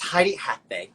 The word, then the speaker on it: Heidi Athay: you pronounce it what's the best way to pronounce it uh tidy tinyathe it's heidi hathbae good to see you and you hail from